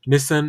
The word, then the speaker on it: Nissan: a big commercial for Nissan who that the way that uh I don't know if I've been saying it wrong all my whole life because Orlando Bloom pronounces it as Nissen I think he's playing